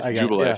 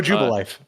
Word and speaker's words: Jubilife: arceus jew uh jubilife is that you pronounced jubilee yeah oh jubalife joe jubilee yeah i had that once